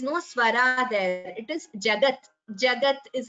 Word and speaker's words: Jagat: 42nd verse, the last word is Jagat. It is not pronounced as Jagatu, no. I have heard certain chantings where it's the U is heard, but like I've said this before, Jagat, it is a halanta, that is, it is